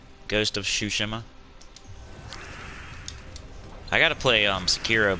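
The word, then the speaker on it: Tsushima: least a month so shushima well even if you're spelling it wrong i'm probably still saying it wrong either way it's that silent t i think it's a silent t what kind what game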